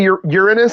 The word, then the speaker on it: Uranus: Did he say Uranus he's going to? That's the proper pronunciation.